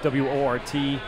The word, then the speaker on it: Wort: All right, so if you go on YouTube and you type in the Wort, W-O-R-T, Mike and Pete, pronounce Wort, spelled Wort.